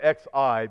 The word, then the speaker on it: Xi: You spell it X-I, but I think Xi is how you pronounce it.